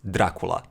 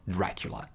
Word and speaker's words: Dracula: And that is also the reason that I often sound like a Dracula to you, that here in these areas we would pronounce Dracula and not Dracula.